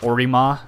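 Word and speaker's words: オリマー: Because Olimar is in Japanese it's a Orima, which is just Mario but like altered.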